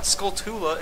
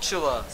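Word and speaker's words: Skulltula: we're on a gold sculpture line it's not sculptula it's called Chula I never knew how to pronounce it can't you find two of them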